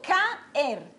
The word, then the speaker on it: caer: digo caer no no yo digo caer miren que abierta me queda en una sílaba y la otra abierta me queda en otra sílaba bien Entonces si eso